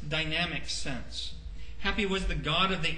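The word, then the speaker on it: Hapi: ad the second is happy and it's pronounced the way it's spelled with one p happy the spirit of the Nile was his title and he was also called its Dynamic sense happy was the god of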